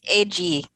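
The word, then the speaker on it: Eiji: Honda and uh ejai egai how do you pronounce his first name I don't want a massacre yet um it's edgy edgy yeah edgy Surabaya who was the master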